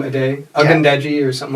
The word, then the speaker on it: Ade: A day. You were close. That's what they call him. A day.